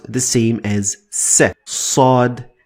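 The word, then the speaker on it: صاد: Sod is much heavier. In order to demonstrate my point, I am using this so that you get what I'm talking about. So in order to pronounce sod, sod, sod, sod, you need to lift the back of your tongue to the roof of your mouth to get it the best way.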